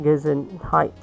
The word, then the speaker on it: Gesundheit: If someone nearby sneezes, remember to tell them Gesundheit. That is a funny-looking word which is pronounced Gesundheit.